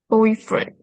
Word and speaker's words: boyfriend: Boyfriend. Boyfriend. Boyfriend. Two. So, it's just two. Right. So that means the stress syllable is the first syllable. It's the boy.